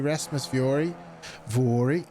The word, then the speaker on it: Rasmus Vori: Rasmus Vori, I think it's pronounced. I checked this week. Another one, the Finnish driver with really, really good pace here this week.